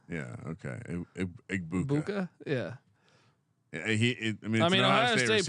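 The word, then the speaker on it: Egbuka: Igbuka. Yeah. Okay. Igbuka.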